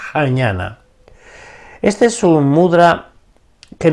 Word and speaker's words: jñana: y después ñ a n a y se pronuncia jñana Este es un mudra que nos alivia todos